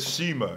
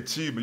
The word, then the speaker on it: Chima: there's one point where you said Shima you didn't say Chima you said she no no no